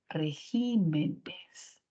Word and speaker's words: regímenes: por qué Por esdrújula régimen sin embargo cuando se le añade el plural la sílaba tónica se mueve se cambia a j entonces la palabra ya no es régimen sino la palabra es regimenes y la clasificación nos